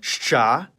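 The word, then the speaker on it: Щ: It's called shcha and like its name, it makes the sound sh. You might think that this is two sounds in one, but in practical conversation, it can be pronounced much faster, blending the sounds together.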